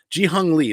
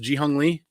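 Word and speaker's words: Jee-Hyung Lee: of those covers yeah g hung lee that is that's how it's pronounced g hung li oh dude that cover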